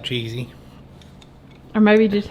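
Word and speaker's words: Chizzie: Chizzy, C-H-I-Z-Z-I-E, but I know who you're talking about. Sounds like Cheesy.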